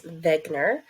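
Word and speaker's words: Wegener: looks like Wagner but he was from Germany so we pronounce his last name as Wegner proposed that all continents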